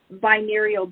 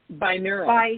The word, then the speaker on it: binaural: And I think there's also on like um Insight Timer, I think they also have binarial beats or how do you how do you say that word? Binaural.